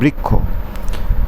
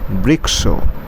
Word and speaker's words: বৃক্ষ: যেমন এখানে একটা উদাহরণ দেওয়া হয়েছে যে এই যে বৃক্ষ, এটা সংস্কৃতের উচ্চারণ কিন্তু বৃক্ষ, কিন্তু বাংলায় বৃক্ষ।